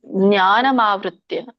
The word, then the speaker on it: ಜ್ಞಾನಮಾವೃತ್ಯ: ಯತ್ಯೇಶಹ ಜ್ಞಾನಮಾತೃತ್ಯದೇಹಿನಂ ಜ್ಞಾನಮಾವೃತ್ಯ ಜ್ಞಾನಮಾವೃತ್ಯ ಜ್ಞಾನಜ್ಞಾನಮವೃತ್ಯ ದೇಹಿನಂ ಬಿಡಿಸಿದರೆ ಜ್ಞಾನಂ ಆವೃತ್ತಿ ಆಗುತ್ತೆ ಜ್ಞಾನಂ ಆವೃತ್ಯ ದೇಹಿನಂ ಜ್ಞಾನಜ್ಞಾನ ಆವೃತ ಆವೃತ್ತಿ